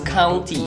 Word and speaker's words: county: country, it's county.